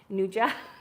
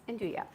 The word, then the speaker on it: 'nduja: Last week on my stream I said na and I'm like I better know how to say this. I'm like oh no it's Andua.